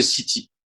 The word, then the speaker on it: Ceet: Donc on prononce bien City et pas site comme certains, hein.